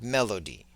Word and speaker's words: melody: okay so in English the word Melody has three syllables Melo and the accent is on the first syllable so it' be like Melody right and it also